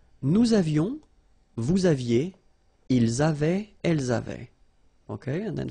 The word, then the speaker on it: avaient: And then you saw probably that we've got also here A-V-A-I-E-N-T, but then you pronounce it avait. So the same way as we pronounce here, okay?